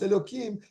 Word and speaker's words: Elokim: Teva mais malgré ça c'est quand même prononcé on le prononce Elokim pourquoi parce que ça